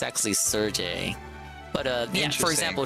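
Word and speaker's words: Cherche: church or Serge Serge S I feel like church I feel like I've been saying church but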